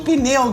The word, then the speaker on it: pneu: Gente, esse P aí é mudo, viu? É um monossílabo não tem o tônico.